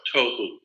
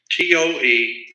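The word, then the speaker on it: תֹהוּ: Pronunciation, it would be Toe-hyphen-who, tohu. That's not the way it's spelled in Hebrew, but that's the way it's pronounced. Toewho, tohu.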